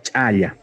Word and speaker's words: chaya: Y la acción es chayar, o la chaya. ¿Qué significa? Agradecer a la Madre Tierra con elementos como alcohol, vino, ¿no? Por lo recibido. La pronunciación es chaya normalmente en español, pero en aymara es más chaya, que es muy, muy,